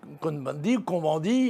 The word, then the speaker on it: Cohn-Bendit: Monsieur Cohn-Bendit, puisque nous sommes en France, on le prononce à la française, eh bien lui, dans